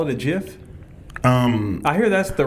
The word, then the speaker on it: GIF: be ji f yeah but I hear it's pronounced like give the proper term is jiff although it's a G that's what I go